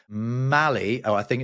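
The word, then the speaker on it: Mally: c Capuin monkey called Mali. Oh, I think it's pronounced Molly is it doesn't work in my accent. It's like Maul with a Y at the end of it.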